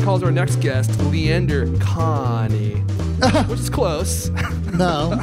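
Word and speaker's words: Kahney: They never say it right. It's supposed to be KaHaney.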